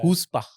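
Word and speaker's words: chutzpah: हुस्पा, उसका प्रोनाउंसिएशन थोड़ा सा, मतलब स्पेलिंग थोड़ी डिफरेंट है, प्रोनाउंसिएशन हुस्पा है। सो ये एक बहुत अच्छा है, एक्सट्रीमली कॉन्फिडेंट इंसान या हाउ डू you spell it? CHUTZ, हुस PAH, हुस्पा ऐसे रहते हैं। सो लेकिन प्रोनाउंसिएशन इसका हुस्पा होता है।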